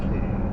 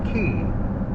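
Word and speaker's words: Cay: to see a place spelled c-a-y most people call it k but uh that's more of a Bahamian names and if you ask a canyon they're going to say key not k so there's your linguistic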